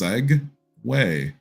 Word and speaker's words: segue: scg w a y because it's seg way right but some genius